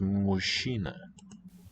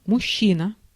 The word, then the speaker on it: мужчина: Okay, but they say it's pronounced mushina. Мужчина. Mushina, with assimilation of the fricatives there.